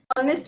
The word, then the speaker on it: honest: starts with a okay honest man again it's a o o sound honest man and air air